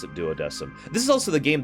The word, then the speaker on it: Duodecim: let's not get into Latin pronunciations here they pronounce it doesm so I will pronounce it doesm this is also the game that taught me